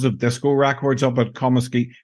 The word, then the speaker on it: Comiskey: So he decided to blow boxes of disco records up at Comiskey. Tell me if I'm pronouncing this, by the way. Comiskey Park, home of the Chicago White Sox. Comiskey, yes.